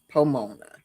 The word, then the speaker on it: Pomona: It rhymes with Ramona, Pomona.